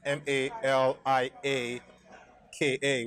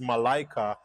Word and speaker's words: Malaika: in in Arabic but the name that I was going for which is mal I a KA which is Malaika actually means angel yeah